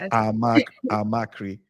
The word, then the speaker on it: Amachree: But it's pronounced amakri. Amaki. Amaki. Amri. Okay. A lot of people couple of people see the amakri. Yes. Yes. Couple of people see the name and they they pronounce the ch like tree. But I said, "No, it's creep."